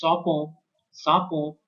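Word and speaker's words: Tsangpo: So the pronunciation is Sapon, but here it is written at T Sangpo, okay, which mean is the purifier.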